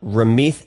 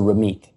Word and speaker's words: Ramit: First of all, in Punjabi, the way it's written, it's TH, so Ramit.